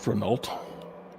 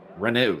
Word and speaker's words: Renault: Sir, I believe that's pronounced Renault. Renault, sir.